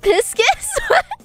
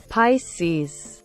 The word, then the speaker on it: Pisces: Am I pronouncing it wrong? It's not Piscis? Pisces. Pisces.